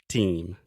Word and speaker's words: team: of Team One More Time Tim one more time remember last time I said you were saying to you but it's team just the e sound team yeah team there we